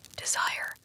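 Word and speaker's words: désir: Leier, desire. Feel how it burns in the mouth to pronounce it. Desir. The s hisses like a snake, like a secret escaping.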